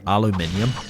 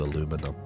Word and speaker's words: aluminium: like shortened it to aluminum, you know? Aluminium. Aluminium. Five syllables. Aluminum 4. One last syllable makes it faster to say also I heard right I don't know what touch this is.